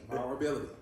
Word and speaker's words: vulnerability: You know how to say it. Ability on the end. Vulnerability.